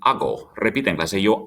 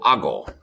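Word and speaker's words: hago: i'm watching tv but the yo form of ather would be ago ago as a reminder the h is a silent letter in spanish next verb point means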